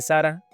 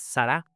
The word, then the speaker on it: Sará: Ahorita dije Sara, trato de acostumbrarme a lo que está escrito acá, que es Sará.